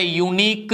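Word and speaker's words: unique: പറയാം A union അതുപോലെ യൂണീക്ക് method അതും യായിലാണ് തുടങ്ങിയിരിക്കുന്നത് അതുകൊണ്ട് നമുക്ക് അവിടെ എന്തെന്ന് പറയാംഎ എ യൂണീക്ക് മെത്തേഡ്.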